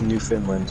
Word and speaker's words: Newfoundland: world new what new what it's finland it's newfoundland is what it's pronounced it's one of those weird words maine